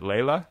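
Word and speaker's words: Lejla: me with the pronunciation is it layla it's like it's like the clapton song okay i got it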